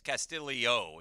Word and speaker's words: Castillo: Yeah, it's spelled Castillo, but it's Castillo is how they were saying it.